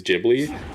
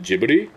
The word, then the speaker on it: Ghibli: And it seems like the general consensus is Gibli, but I hate it because the reason people say it should be pronounced Studio Ghibli is because the creator of it in Japanese pronounces it Jibli.